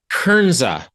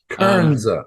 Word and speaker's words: Kernza: Kernza. Kernza. Okay. So it's like a combination of kernel and then Kernza, which is the indigenous name for this part of the country.